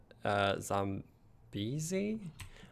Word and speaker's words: Zambezi: that river in geography, my geography teacher pronounced it Zambezi, and then we were watching a documentary about it, and all the locals that live near it pronounce it Zambezi, or Zambezi? Zambezi? Yeah, they pronounce it Zambezi.